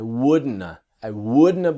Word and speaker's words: wouldn't have: The T is silent and the have becomes a. I wouldn't have believed in myself.